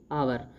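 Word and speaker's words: hour: taxi at such A हावर एज इट is already 11 पीएम अब इसके अंदर rule देखते हैं हावर से पहले इन का प्रयोग करें क्योंकि उच्चारण स्वर से पहले शुरू होता है तो इट इज वेरी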